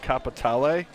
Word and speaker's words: Capitale: It's not called Capital. It's got a flair to it. It has an E at the end of it, so at least the way Rockstar pronounces it is it's called Capitale. Capitale. Yeah, because it's Italian, I guess. Or at least it's supposed to be.